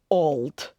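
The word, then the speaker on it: auld: English version and that is the Scots word Al now Al if you've never heard me say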